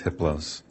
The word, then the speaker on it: Hiplos: His name is Hiplos. The H is silent.